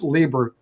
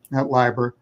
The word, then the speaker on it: Lieber: this pronunciation of pronunciation my last name is Libra Library lots of people get it wrong um Libra and secondly